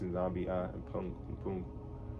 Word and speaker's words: nZambi mPungu: I was pronouncing that wrong. It's nZambi mPungu.